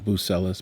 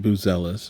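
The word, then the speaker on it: Buzelis: Buselis, not Bucelis, but Bzelis is what I'm told he's pronounced in his name.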